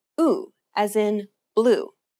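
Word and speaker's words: 오: The next vowel is O. think of the O sound in orange. Round the lips as if you're surprised.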